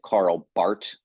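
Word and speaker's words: Karl Barth: r t h it's Germans don't pronounce the h it's a hard T at the end so they pronounce it Carl Bart uh Carl Bart was not a German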